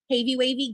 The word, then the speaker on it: Havy Wavy: Yeah, it's pronounced Havy Wavy. Gotcha. Sorry. Thank you, Havy Wavy.